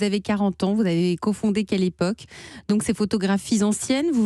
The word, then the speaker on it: Kelepoq: êtes la cofondatrice de quelle époque ça s'écrit ke l epo cul tout à fait qu'à